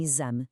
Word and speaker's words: exame: Outras vezes ainda soa a Z como em exame.